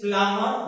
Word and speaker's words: plumber: So correct pronunciation is plumber, where B is silent.